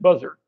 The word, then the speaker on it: Bossert: His real name was Bossert, Bossert, but everybody pronounced it Buzzard.